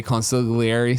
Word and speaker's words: consigliere: We're having an argument over how to say consigliere, so please call us back and tell us how to say it.